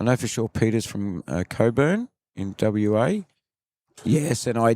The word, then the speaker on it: Cockburn: I know for sure Peter's from Coburn in WA. Yes, and I did pronounce it incorrectly a number of times.